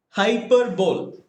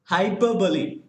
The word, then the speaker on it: hyperbole: right almost all of us we had been pronouncing it as hyperbole but the actual pronunciation of this hyperbole is not hyperbole it is hyperbole what is it it is hyperbole hyperbole is